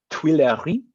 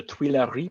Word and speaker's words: Tuileries: into an old palace called I think it's pronounced Tuileries.